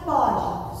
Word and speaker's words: pode: A pronúncia pode, som aberto.